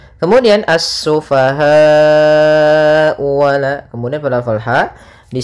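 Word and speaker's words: السفهاء: lafal assufaha di sini ada alif lam syamsiyah yaitu alif lam yang ditulis tapi tidak dibaca sehingga langsung kita membacanya ke huruf Sin kemudian asufahau wala kemudian padafal ha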